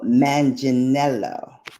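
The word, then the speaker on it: Manganiello: years um I think his name is Joe mancello montegelo something like that let me look up the pronunciation of his name Joe manginello okay oh Sofia Vergara has asked the court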